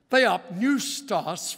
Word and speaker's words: Theopneustos: Theopneustos, from theos, meaning God, and pneustos starts with a P, but you don't pronounce it.